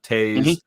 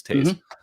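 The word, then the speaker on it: Toews: Kane and Jonathan toes Taz I always say his name wrong t o e WS I think it's Tas um and um you know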